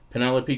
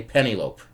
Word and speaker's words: Penelope: in stupid situations like I couldn't say Penelope for ten years Penelope Cruz yeah I would say penny loped true story that's why